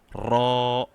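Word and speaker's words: ر: Now, to pronounce ra, you need to take the tip of your tongue and put it up here. So try to fill the different parts of your mouth. So not directly on the tip, not just behind, but a bit more behind.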